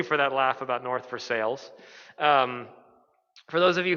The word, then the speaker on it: Versailles: that laugh about north for sales um for those of you who are not in pittsburgh it it is it looks like versailles but it's pronounced for sales i don't understand why